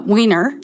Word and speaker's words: Weiner: summer by jennifer weiner weiner how do we pronounce her last name uh weiner okay and i love her i love her